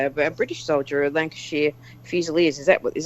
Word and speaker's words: Lancashire: alongside British guy of a British soldier at Lancashire Fusiliers is that what is that right I always pronounce that wrong right absolutely right well done